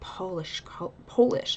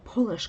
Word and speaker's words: Polish: Oh, even though I was a Japanese character, like all the other participants, he made me obsessed with Polish, I'm sorry, I keep mispronouncing it, Polish culture, which makes sense.